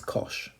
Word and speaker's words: cosh: it's just pronounced as cosh which kind of makes sense it looks like kosh so kosh is the